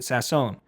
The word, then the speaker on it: Sasson: So he says it's it's pronounced Max Sassone. I don't know why he would pronounce it like that randomly, right? Clearly he pronounces it Sassone. But then Short House starts saying Sassin and I'm thinking, okay, Shorty's not going to